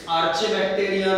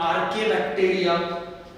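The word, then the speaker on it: Archaebacteria: बैक्टीरिया, साइनोबैक्टीरिया, actinomycetes, फिर थोड़ा सा जाना पहचाना माइकोप्लाज्मा, फिर आर्केबैक्टीरिया, प्रोनाउंसिएशन थोड़ा सा ठीक से, इट्स आर्चेबैक्टीरिया नहीं, इट्स कॉल्ड आर्केबैक्टीरिया।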